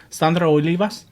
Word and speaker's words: Sandra Olivas: She was one of the first, I remember on TV, Latina, who would pronunciate it with the right accent, because she would say Sandra Olivas, and I would be like, and I used to walk around my house.